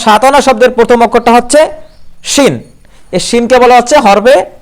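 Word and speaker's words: شين: যেমন এই শাতানা শব্দের প্রথম অক্ষর হচ্ছে শিন। আচ্ছা, আর যদি আমরা শিন উচ্চারণ করি, উচ্চারণটা কেমন হয়?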